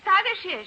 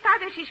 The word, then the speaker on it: Tadeusz: The name is Tadeusz. So, Mamma, she's going to make a trouble. Yes, young lady? In Poland, we say his name Tadeusz Kosciuszko. But in America, Tadeusz Kosciuszko is fine.